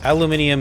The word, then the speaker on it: aluminium: Yes, aluminium is very much the British pronunciation.